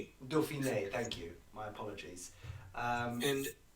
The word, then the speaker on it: Dauphiné: And it channels down through here, and so you naturally follow it up into the Dauphin, or however you pronounce it. Dauphiné.